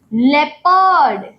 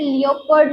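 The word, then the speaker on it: leopard: वैसे ही जैसे ही हम बोलते हैं इ ओ इ ओ थ्योरी देखिए इ ओ थ्योरी नियन लेपर्ड लियोपर्ड इसे लियोपर्ड नहीं बोलते हैं लेपर्ड बोलते हैं ये जो है एक्सेप्शनल केस है।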